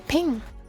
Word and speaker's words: PNG: you're saying that then you got to say ping. That is the official pronunciation. That is the official pronunciation of PNG.